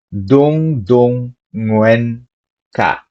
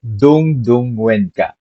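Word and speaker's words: Dungdungen ka: It is more accurate to pronounce the NG sound on, like nge, mm. Think of the last syllable in the following words. Sing, ing, mm. Singer, banger, among.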